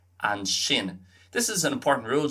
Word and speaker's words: sin: So keep it in mind if you hear son and so in Munster Irish, that's just shin and sho.